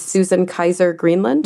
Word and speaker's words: Susan Kaiser Greenland: about, that you put together with, is this Susan Kaiser Greenland?